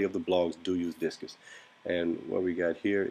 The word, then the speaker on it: Disqus: What I like to use is Digdig.